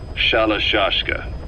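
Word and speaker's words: Shalashaska: to hearing about it pronunciation had wound up as shalashashka saw half gulag half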